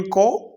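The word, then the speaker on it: coup: कू, यहाँ पर P silent letter है।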